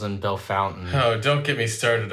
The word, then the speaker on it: Bellefontaine: Now, Bellefontaine and Versailles have no right to be pronounced like that. Nope. To those who don't know, it's Versailles and Bellefontaine.